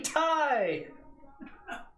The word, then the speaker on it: Ti: just go nut 3080 tie dude well i say that because i originally came from the mountain bike industry and ti is pronounced thai yeah so it's meant